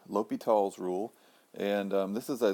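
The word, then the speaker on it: L'Hôpital: of those limits easier the pronunciation is kind of l'hopital's if you google this thing about half of the entries have an S in there I think that's because people say oh it's just like hospital and then they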